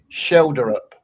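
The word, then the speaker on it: Schjelderup: Is it Shelder up? Yeah, Shelder up. It's a silent J.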